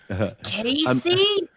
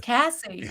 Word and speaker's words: Cassie: Casey? No, it's Cassie, literally.